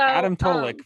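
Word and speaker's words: Adam Tulloch: of that group is let's see if i can say his name right adam tolic is that right yeah so adam tulik from west virginia and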